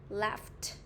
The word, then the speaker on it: laughed: Thì ở trong từ laugh nó không có chữ f hiện lên, nhưng mà cái âm gh nó được phát âm là âm f, đúng không ạ?